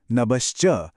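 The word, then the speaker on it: नभश्च: बिल्कुल नाभि से और अंत में नब्श्च में भ का उच्चारण। इसे थोड़ी भारी सांस के साथ यानी एस्पिरेटेड तरीके से बोलना है।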